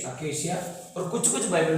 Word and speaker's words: acacia: अकेशिया, इसको बोलते हैं अकेशिया, इसको सी का प्रोनाउंसिएशन है, ठीक है, अकेशिया।